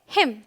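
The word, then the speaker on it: hymn: Rule number 2 क्या कहता है, अगर एन के पहले एम आए, मतलब एम फिर एन आए, तो आपका जो एन है वो साइलेंट होगा।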